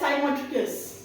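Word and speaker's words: cymotrichous: How will you pronounce it? You will call it साइमोटिकस।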